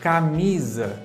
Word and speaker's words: camisa: Por exemplo, se nós vamos pronunciar a palavra camisa em português, a sílaba tônica está na mi, não é? na sílaba mi.